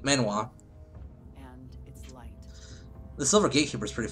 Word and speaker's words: manhwa: They use, I believe it's pronounced manhao, like it's manhao or something like that. In fact, there's a really great, Chinese, series I'm following called The Silver Gatekeeper. That's it, manhwa.